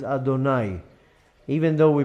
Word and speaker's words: Adonai: is the name Aleph darlin renewed that we pronounces Adonai even though we pronounce also you'd came off